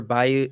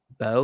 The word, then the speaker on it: Beau: Joaquin Phoenix for Bayou is Afraid. Beau? Beau is that how you say it?